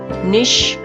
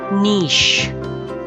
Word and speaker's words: niche: where your expertise lies it's called niche not nish or nice it's niche next word is related to